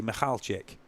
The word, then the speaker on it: Michalczyk: So Ilya says the easiest way, Duncan, just remove my K and say Michalczyk.